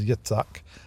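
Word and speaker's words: Yitzhak: had born for him, Yetszak. Uh, that's the name Isaac. It's the same name. It's just better pronounced uh as Yeetssak.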